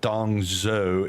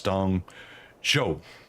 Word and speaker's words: Dongzhou: It's not Dongzhou, it's Dongzhou is how it's pronounced.